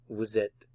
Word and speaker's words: vous êtes: So vous, normally you don't pronounce the S, but with the vowel following, vous êtes, vous êtes, vous êtes.